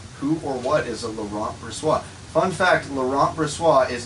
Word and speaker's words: Laurent Brossoit: And he pronounces it Laurent Brossoit? Exactly Not like Laurent? that. Nope, it's Laurent Brossoit.